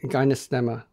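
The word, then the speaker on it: Gymnema: for that it's called gyma sylvestri say that or maybe spell it for our listeners so the first word is begins like the word Jim gymnasium g y MN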